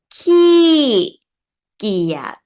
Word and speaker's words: ขี้เกียจ: This word we pronounce, first one is ki and giad. Ki, giad.